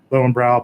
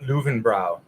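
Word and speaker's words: Löwenbräu: So Augustiner, Ackerpschur, Lowenbrau, Polyender. It's actually pronounced Löwenbrau.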